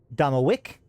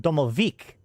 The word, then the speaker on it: Domovoy: And if we look, some of the ways of pronouncing it is Domowick and Domovik, right? And Damovic. So the thing is that